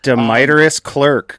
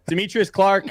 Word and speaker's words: Demetrius Clark: Deiterus Clerk. Go for it. Deiterous Clerk is literally the worst way that I've ever heard my name pronounced. Demetrius Clark, uh, dev at Netifi, community hype man.